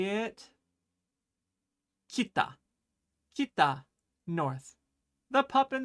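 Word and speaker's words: きた: And you would say it kita.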